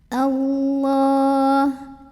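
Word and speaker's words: الله: Allah. Lam jalalahnya dibunyikan secara tafkhim karena huruf sebelumnya yaitu hamzah tadi barisnya fathah. Maka bacanya tebal, pangkal lidah dinaikkan.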